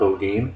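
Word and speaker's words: Holguin: just pronounce o g the H is silent um I I can't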